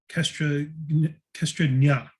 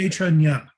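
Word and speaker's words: kṣetrajña: are two kinds of Kestranya. It's actually pronounced Kshetra. Kshetra. The- And the- Kshetra, yeah, and the JNA Kshetra, is Nya is pronounced that. You did. Nya. Yeah, it's perfect. Kshetranya, the individual living entity and the supreme living entity.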